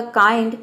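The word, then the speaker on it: kind: देखिए यहाँ पे भी 2 कॉन्सोनेंट आया है, एन और डी, तो इसलिए यहाँ पे हम पहले कॉन्सोनेंट को आधा ना प्रोनाउंस करें और दूसरे को पूरा ड प्रोनाउंस करेंगे। ये हो जाएगा आपका काइंड।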